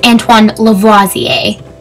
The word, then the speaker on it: Antoine Lavoisier: Just checked, it's Antoine Lavoisier.